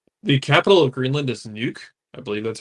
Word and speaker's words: Nuuk: The capital of Greenland is Nuuk. I believe that's how it's pronounced in UUK.